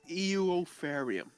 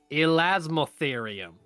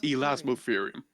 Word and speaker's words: Elasmotherium: Is this Eltherarium? Elasmootherium. That's how you pronounce it, right? Elasmotherium.